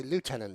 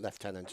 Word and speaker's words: lieutenant: she a Yoshi or it should say lieutenant Yoshi not leftenant is that the English pronunciation Oh stabbed in the